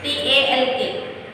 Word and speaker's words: talk: TALK, talk.